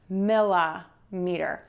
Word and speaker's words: millimeter: And we can add sɛntəˌmitər or mɪləˌmitər. The tip for you here is that we are going to use that schwa syllable in that word. So you're gonna have sɛntəˌmitər, sɛntəˌmitər, and mɪləˌmitər, mɪləˌmitər.